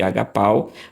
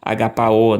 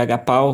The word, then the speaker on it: ἀγαπάω: Mas a razão que eu percebi que muitos são levados pela transliteração e fazem a pronúncia desse verbo em vez de agapau, agapaor, né? Exatamente aqui o verbo agapaor, né? Isso, mas em tese o verbo seria agapau, você não tem aqui um ditongo, né?